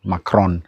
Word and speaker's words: Macron: I know Macron in English we say Macron but in French it's of Con to Pal M.